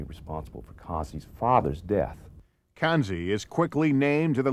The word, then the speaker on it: Kansi: Tracing the weapon to a local dealer, investigators now have a suspect, a Pakistani, Mir Aimal Kansi, sometimes pronounced as Kazi.